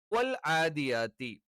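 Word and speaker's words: وَالْعَادِيَاتِ: അപ്പൊ ഇവിടെ വൽ ആദിയാത്തി, ഈ ഐനൊക്കെ പലപ്പോഴും പല ആളുകളും തെറ്റിച്ച് ഉച്ചരിക്കാറുണ്ട്. അപ്പൊ വൽ ആദിയാതി ളബ്ഹ, വൽ ആദിയാതി ളബ്ഹ, വൽ ആദിയാതി ളബ്ഹ, വൽ ആദിയാത്തി.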